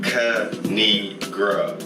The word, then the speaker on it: Kanigra: And it's pronounced Kanigra. Don't fuck her name up.